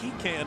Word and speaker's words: pecan: How do you say that word? Pecan. Pecan is what you say, Bob. Peacon.